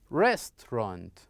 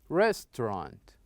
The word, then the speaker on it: restaurant: one the word restaurant restaurant restaurant okay so these are example of the word that we should stress its first syllable we should stress its